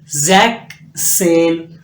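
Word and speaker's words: sechzehn: 16 लिखा तो यहां इधर सिक्स के साथ एस था यहां पर आपने एस को कंपलीटली खत्म कर दिया ठीक है जक्स जक सेन जीब सेन यहां पर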